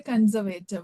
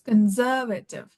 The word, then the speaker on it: conservative: We say conservative, but the correct pronunciation is conservative.